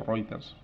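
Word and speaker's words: Reuters: agencias especializadas del tipo routers que conoceréis o ritters se pronuncia la relación calidad precio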